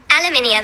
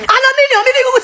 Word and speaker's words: aluminium: Aluminum pronunciation. Bring it to the phone so my fans can hear. Aluminium. Aluminium.